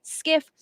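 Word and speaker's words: SCIF: and while you do that let me read to you what a skiff is it is a sensitive compartmented information facility pronounced skiff it is a U.S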